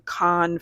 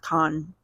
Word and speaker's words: Cannes: I definitely thought it was Canes. I know. Canes. But you do have two N's, yeah, so that makes sense. It's pronounced Con.